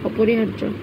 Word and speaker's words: অপরিহার্য: হায়ের পরে কিন্তু ওই যে রেফের উচ্চারণটা আগে ধরতে হবে। রেফের উচ্চারণ র, তো হায়ের পরে র হার, এরপর হচ্ছে জয়ের উচ্চারণ হার্য, অপরিহার্য।